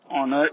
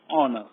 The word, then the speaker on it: honor: now and honor you're the first letter of a word honor is h and h is silent here so we use the article and before the singular word that is an honor fourth one dash uncle